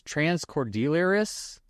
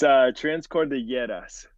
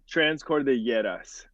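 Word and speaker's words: Trans Cordilleras: help me pronounce this, Transcordilleras. Close. It's Transcordilleras. I wasn't that close, but thanks for being nice to me. Yeah, Say it one more time. Transcordilleras. So it's like the two L's.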